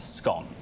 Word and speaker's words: scone: actually would pronounce it scone because once it's scone it's gone a lot of people